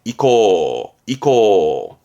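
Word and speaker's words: 意向: 방향의 향자니까 그 사람의 뜻이 가고 있는 걸 보는 게 의향을 묻는데 의향의 이코.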